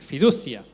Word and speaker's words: fiducia: Es la tercera, la fe fiducia o fiducia, como se pronuncia, fiducia, que es depositar mi confianza personal y total dependencia en Jesús.